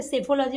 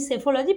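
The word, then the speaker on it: psephology: এছাড়াও সেফোলজি most most important. 2023 এ মনে হয় এই সেফোলজি রিলেটেড কিছু একটা এসেছিল। আর এখন তো যেহেতু ভোটের বাজার চলছে আরো ইম্পর্টেন্ট হয়ে যাচ্ছে। সেফোলজি মানে কি?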